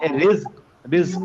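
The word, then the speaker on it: رزق: আচ্ছা, নাজিলা তারপরে হচ্ছে নাজ্জালনা, নাজালনা রিজক। রিজক আমরা বলি না রিজিক, অমুকে রিজিক তমুকে রিজিক, এই রিজিক কিন্তু বর্গীয় না, এই যা, তারপর বলবো হচ্ছে রিজিক। রিজিক হ্যাঁ, রিজিক রিজিক রিজিক এভাবে বলতে।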